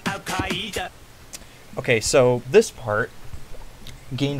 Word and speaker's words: Al-Qaeda: The song also is very admirable for using the correct pronunciation of Al-Qaeda. Many pronounce it Al-Qaeda or Al-Qaeda, but it is in fact Al-Qaeda.